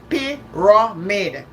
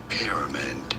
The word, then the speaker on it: pyramid: Pyramid, stress on the first syllable, 3 syllables, never.